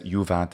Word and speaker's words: juvat: And he says juvat as well. He makes a long u for the juvat. It is a short vowel, technically, but again, medieval speakers do all kinds of changes to the vowel lengths.